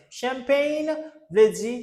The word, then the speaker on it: champagne: Champagne. Champagne. Champagne. Let's go. Champagne. the ch C ch you want to say like sh champagne I'm gonna pop champagne